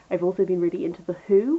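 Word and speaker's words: The Hu: To change genres ever so slightly, I've also been really into The Who, which is spelled H-U.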